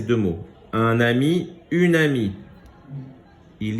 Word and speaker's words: amie: Un ami, une amie. Il y a une différence entre les deux. Quelle est la différence? Une amie, il y a un E. Il est en gris, on ne le prononce pas.